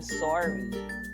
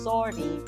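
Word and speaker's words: sori: see um or we say sorry with the Tagalog pronunciation sorry in the spelling s-o-r-i sorry okay so um also has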